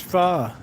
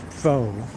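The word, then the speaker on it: pho: Oh, this is far. Hello on Martha Stewart. We're going to be making fa today. It's not faux.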